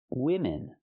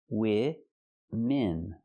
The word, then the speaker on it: women: 3 women. Not womans. It's women. Use the short I sound for both syllables. I, like this is. Women.